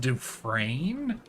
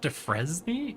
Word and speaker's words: Defrain: It's pronounced defrain, not defy.